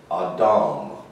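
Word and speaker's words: אדם: that that word is pronounced in hebrew it's pronounced this way a w m a dom now of course we have designated that in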